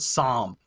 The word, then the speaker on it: psalm: the president-elect where he mispronounces the word psalm he quotes the bible but doesn't realize p-s-a-l-m he doesn't realize that the p is silent he apparently thinks the s is silent let's go ahead and